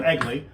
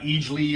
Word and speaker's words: Eggless: And so Eggless, Eggless is pronounced egg as in chicken, and Lee, I guess, as in Lee. So Eggless. It's not Eagly or Eagly or something, Eggless.